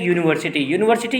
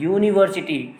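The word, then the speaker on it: university: जैसे आपने अभी दो चीज़ें देखा, एक यूनिवर्सिटी यू से स्टार्ट होता है लेकिन ये वॉवेल की तरह प्रोनाउंस नहीं कर रहा है, यूनिवर्सिटी.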